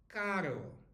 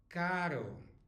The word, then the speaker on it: caro: R Dean right now if it's one R followed by a vow it is very soft like in the word expensive which is Caro Caro so an expensive car